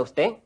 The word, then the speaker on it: usted: ¿Cómo está usted? Listen and repeat. ¿Cómo? ¿Cómo? ¿Cómo está? ¿Cómo está? Normally, the final D of ¿Usted? is not pronounced.